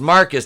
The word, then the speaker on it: Marquise: zoey's dead i mean marquise pronounced marcus doesn't even [ __